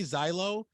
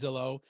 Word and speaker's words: Zillow: just gonna sell and when I say Xylo I'm saying that as a joke because some of them actually say that right they don't even know how to properly pronounce Zillow and they're posting their